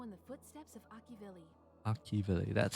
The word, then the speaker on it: Akivili: Akivili, that's how you pronounce it.